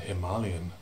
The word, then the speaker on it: Himalayan: himalayan studies at soas now note those pronunciations don't you mean nepali people sometimes say don't you mean himalayan no i reply it's nepal not nepal and himalayan not himalayan anyway i often say as